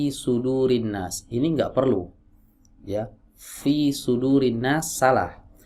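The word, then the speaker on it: فِي صُدُورِ النَّاسِ: ya Fi sudurinnas salah yang betul Fi sudurinnas ya harus ada anginnya tapi cara melafalkannya mengeluarkan anginnya itu tidak perlu menggelembungkan TV ya kalau nggak ada anginnya Bagaimana ya salah ya berarti tidak memunculkan sifat hamsnya cacat sifat hamsnya ya Terkadang ada sebagian orang mohon maaf ya mengucapkan huruf F itu dengan huruf P sudurinnas pisudurinas ini dua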